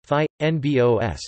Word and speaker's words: fynbos: fynbos Afrikaans pronunciation phi n BOS meaning fine leaved plants